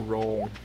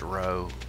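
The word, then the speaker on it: roe: Eel roll. Again, that sounds pretty terrible. It's pronounced row.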